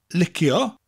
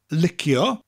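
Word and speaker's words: licio: word like now the main one is liquor liquor which sounds like you're licking somebody liquor or the shortened liquor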